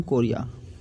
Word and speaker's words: chorea: मैंने कभी स्पेलिंग भी ढंग से नहीं पढ़ी, तो आप इसको कोलेरा मत पढ़ना, इसको पढ़ना हंटिंगटन कोरिया, वरना आप एग्जाम में भी हंटिंगटन कोलेरा ही लिख के आ जाओगे।